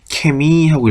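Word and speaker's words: Chemie: 근데 그 얘기를 하면서 뭐라고 얘기했냐면 남부지방에서는 뭐라고 읽는다? 케미하고 읽을 수도 있다고 말씀을 드렸어요. 기억이 나시는지 모르겠네요. 원래는 헤미가 맞지만 남부지방에서는 케미라고 읽는다.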